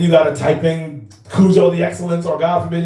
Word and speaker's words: Cudjoe: Then the real Cudjoe, the real, spelled like how it sounds, Cudjoe.